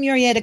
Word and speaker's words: Murrieta: I'm in Murrieta, California, next door to Right.